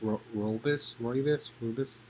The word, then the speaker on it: Rooibos: I don't know how to pronounce this properly, probably, but it's pronounced it's spelled R-O-O-B-I-S, Rooibos.